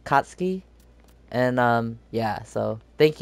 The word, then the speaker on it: Katsuki: comment below that that um that's how you pronounce it I was saying katsuki it was like katsky and um yeah so thank you to whoever